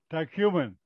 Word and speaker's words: Tyumen: Tyumen. Tyumen. How do you pronounce it? Tyumen.